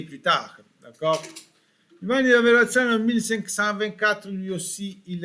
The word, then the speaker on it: Verrazzano: Attention, avons bien prononcé la double R comme en espagnol, verra. Et Zano, pas Sano, Zano, Zano comme pizza, pizza Giovanni da Verrazzano.